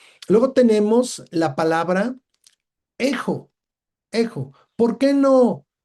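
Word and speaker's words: ἔχω: ¿Por qué no jejo? Bueno, porque lo que tenemos nosotros arriba de Ésilon es un espíritu suave y el espíritu suave no se pronuncia como J, ¿verdad? Se pronuncia solamente la vocal y tenemos un acento como el nuestro, ¿verdad?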